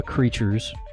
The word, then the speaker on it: Crytures: Is it Crytures? It's just creatures, guys.